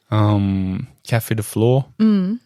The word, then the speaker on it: Café de Flore: Café de Flore rhymes with for sure.